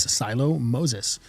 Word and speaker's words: Siloh Moses: Um, on the show today is Silo Moses. I said that right. Absolutely. Because I've gotten your name wrong a couple of times.